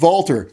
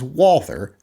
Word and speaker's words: Walther: And before people get on me and say it's pronounced Walter, you know, we won the fucking war. We get to decide how the alphabet is pronounced. It is Walther P99AS.